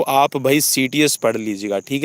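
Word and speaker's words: Citius: काइटियस को आप भाई सीटीएस पढ़ लीजिएगा। ठीक है, काइटियस को आप सीटीएस पढ़ लीजिएगा, because we are habitual to pronunciation सीटीएस।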